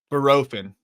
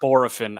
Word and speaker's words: Bohrofen: Barofin. I was thinking Barofin. Barofin. It's not Borofin. I think it's Barofin.